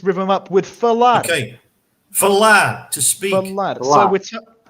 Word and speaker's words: falar: I've broken it down to syllables here, but I'm going to add an extra bracket here because I want to talk a little bit about these two different A's here. We have two very different A's here in this word. We have th, which is a soft sort of an A, and then in the second syllable we have la, which is a pressed accented A.